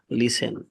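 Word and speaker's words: listen: শোনা লিসেন তহলে লিসেন to your teacher carefully.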